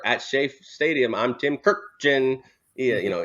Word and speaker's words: Kurkjian: shafe Stadium I'm Tim kirkjin yeah you know he always hardly says she always had that hard stuff yeah absolutely no you